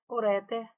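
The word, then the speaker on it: ureter: São oxítonas, móvel, catéter, uréter, mister.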